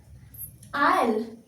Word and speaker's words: I'll: तो इसको बोलेंगे कैसे, प्रोनाउंसिएशन क्या होगा, आयल, क्या होगा आयल, क्या बोलेंगे आयल, आयल, आई विल, आयल, आयल, आयल, I'll come around later today, ठीक है।